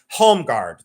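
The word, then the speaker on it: Holmegaard: This is the it's it's in in America, it's pronounced homeguard.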